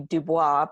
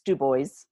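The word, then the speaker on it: Dubois: you pronounce it in it's a French word and normally it would be dubo but in Wyoming it's dubo and this is a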